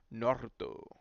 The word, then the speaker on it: Naruto: says you got to pronounce Naruto by rolling your R the correct way Naruto every time I see